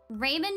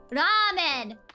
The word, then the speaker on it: ramen: it she was like it's called Raymond and I was like no it's not it's a Japanese word Ramen Ramen they say it in Japan and she was like